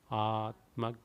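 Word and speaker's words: आत्मज्ञान: I change it to G because it is G and then Nana Gana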